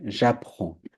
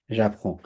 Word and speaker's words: j'apprends: শিখি তাহলে কি হবে j'apprends j'apprends এগুলো আপনাদেরকে অলরেডি শিখাইছি জাস্ট খালি ডেমনস্ট্রেট করলাম j'apprends j'apprends j'apprends এখানে ডিটা উচ্চারণ হবে না এস উচ্চারণ হবে না j'apprends কি শিখে ফরাসি লু